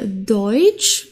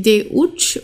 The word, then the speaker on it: Deutsch: also EU wie hier deutsch okay also wir sprechen das nicht aus wie Deut oder so sondern Deutsch das ist das gehört